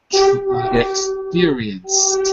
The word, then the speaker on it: experienced: extremely fast growth wait experienced experienced experience experience with a T at the end experience experienced good good